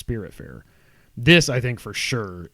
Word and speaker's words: Spiritfarer: I almost said Spitfarer, but it's Spiritfarer.